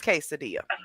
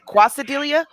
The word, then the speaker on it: quesadilla: is the quesadilla croissant it is quesadilla i said that first didn't i yeah but then you said wait is it quasidelia or quesadilla you said it right the first time why did you go